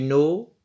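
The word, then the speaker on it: know: होता है डू यू नो हु नॉक एट the door नो में के साइलेंट है नॉक में भी के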